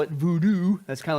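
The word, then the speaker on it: Bodun: Okay, and there, it's not known as we would spell it voodoo.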